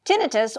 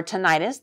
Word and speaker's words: tinnitus: talk about that today tinnitus or tinnitus they are both equally pronounced correct it's just that ringing